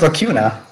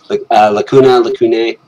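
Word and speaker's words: Lacunae: I thought it was Lacuna. Okay. It's got that freaky A-E at the end, so Lacune.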